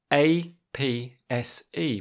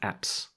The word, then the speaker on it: apse: And then at the very back of the church, you might find the A-P-S-E, pronounced... Apse. It is pronounced apps.